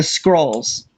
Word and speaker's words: Skrull: So they're Well, spreading the message, Skrull, Skrull like bad, we with a need to kill U. them. Scroll with a U, by the way. Skrull. It yeah rhymes with hull, like hull of a ship.